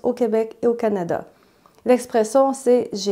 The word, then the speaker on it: Canada: j'ai hâte », donc juste avec un « a » plus fermé, comme « Canada », on dit « Canada ». J'ai déjà fait une vidéo au sujet du « a » final qui est différent en français québécois.